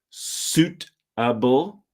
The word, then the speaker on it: suitable: it ideal making it suitable so with this word here I know you can see the letter i in the word s UI t a b l imagine the ey is silent suitable I never say suitable